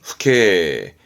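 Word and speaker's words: 父兄: 예, 발음은 후케.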